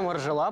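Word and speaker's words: Margiela: Реально Маржела правильно говорить?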